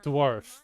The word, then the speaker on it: dwarf: Say dwarf.